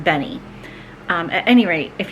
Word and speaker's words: Benne: had these Benny Wafers b n NE e and I think they're pronounced Benny um at any rate